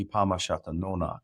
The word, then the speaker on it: Kunâhneepamuhshâtunônak: So since you brought up the 13 Moons, which is Ipama Nonak, is how you say that in Pequot, which is actually translates to our moons.